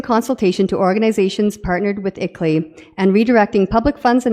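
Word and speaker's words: ICLEI: on local environmental initiatives that acronym is pronounced ickley the international Consulting Group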